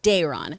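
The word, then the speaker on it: Daeron: Lord Howard in the chat pointed out that that's pronounced Dayron. I did not read these books. Dayron, so there we go.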